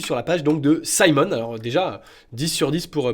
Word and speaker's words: Symone: on va regarder ensemble la start-up Simon et oui ça se prononce comme ça enlevé de fond sur se